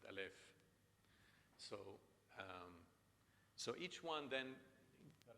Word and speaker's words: Aleph: And in modern Lebanese, we say Alif. In Phoenician, they pronounced it Aleph.